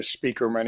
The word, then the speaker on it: Spieckerman: but it is, uh, it is pronounced like, uh, Speakerman, even though it's not, uh, spelled the way people usually expect to be spelled.